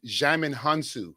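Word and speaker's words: Djimon Hounsou: body double xiamen uh jamin hunson how can he say his name now jamin hansu yeah there you go yeah so he uh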